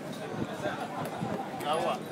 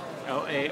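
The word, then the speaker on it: Laowa: And how do you pronounce this? LA. LA. Yeah. L A O W A LA.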